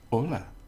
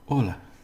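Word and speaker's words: hola: the beginning which is Ola so we have Ola here now we don't pronounce the h remember so it's just Ola so because the I'm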